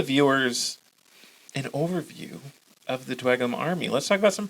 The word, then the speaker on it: Dweghom: I'm going to pronounce the GH like you do in cough. Dweghom.